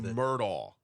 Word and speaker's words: Murdaugh: the way, if you see the name Murdaugh, I have difficulty with it. Murdaugh is how I pronounce it.